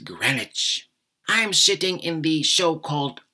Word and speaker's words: Greenwich: Observatory in London yes they pronounce it Greenwich not green it's or Greenwich but Greenwich I'm sitting in the